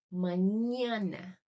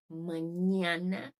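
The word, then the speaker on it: mañana: Por exemplo, manhana, manhana é escrito com N, tá? Então, sempre que tiver esse som, o som do nosso NH e NH, é esse N com o N com tiozinho em cima, beleza?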